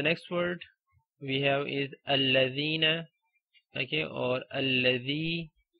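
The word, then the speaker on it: الذي: Okay, so these words, okay, the words belonging to this family, like alladhi, alladhina, allati, allati, allai, or alladhani. Okay, words like that you always read with a fatha on hamzatul wasl.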